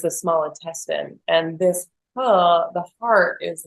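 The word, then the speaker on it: 呵: we have the sound H and this is for the heart so it's like H like as in her so just the first part of her without the r so H and how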